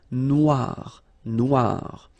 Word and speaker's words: noire: Final not pronounced, okay? And then OI, remember, wa, noir, noir.